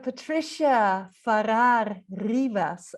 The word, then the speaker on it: Patricia Farrar-Rivas: thank you yeah so patricia farrar rivas and i'm absolutely not sure whether i've said your name correctly but that was lovely oh great it's the spanish pronunciation but that was very